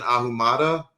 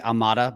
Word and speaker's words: Ahumada: So Jeff has his own podcast with Tristan Ahumada. Is that how you pronounce his last name? Yeah, that's good enough. Yeah, it's technically Amada, but yeah, he accepts that pronunciation.